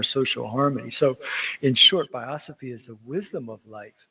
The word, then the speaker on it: biosophy: Before you go, can you tell us what biosophy means? Did I say it correctly? Biosophy, yeah, that's a good one.